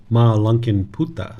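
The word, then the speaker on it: Mālunkyaputta: This is Ma Lunkin Putta. I know how to pronounce this one.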